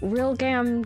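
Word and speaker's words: Realgam: So I'm assuming it's pronounced Real Glam. They're Real Gam, because glamorous.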